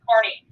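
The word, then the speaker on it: Kearny: job of general stephen carney and it looks like kearney but i pronounced carney um general stephen carney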